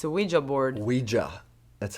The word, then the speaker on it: Ouija: I still see I don't know why in America it's Ouija. Yeah. There's an A at the end. And you also say why, it's like French and German, so we and ya.